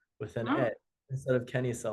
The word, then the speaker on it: kenisa: Now I will say this, the machadis do have a separate pronunciation. They kind of say canisa with an instead of kisa like the rest of us.